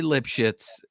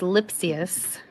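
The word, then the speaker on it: Lipcius: on this show lipshits Andre lipshits was not how you say his name it is lipsus oh yes again yes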